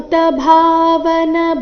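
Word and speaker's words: ಭೂತಭಾವನ: ಆಘಾತ ವೇತತ್ವಂ ಪುರುಷೋತ್ತಮ ಭೂತ ಭಾವನ ಭೂತೇಶ ಭೂತ ಭಾವನ ಭೂ ಮಹಾಪ್ರಾಣ ದೀರ್ಘ ಭಾ ಮಹಾಪ್ರಾಣ ದೀರ್ಘ ಭೂ ಭೂತ ಭಾವನ ಭೂತೇಶ ಇಲ್ಲಿ ಶ್ರಸ್ವ ಭೂತೇಶ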